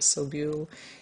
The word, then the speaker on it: Sobule: I think that's how you say it, Sobule, in America.